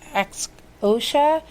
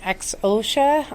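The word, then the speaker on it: Xhosa: south african dialect of i believe you you pronounce it ex osha x-h-o-s-a so my apologies if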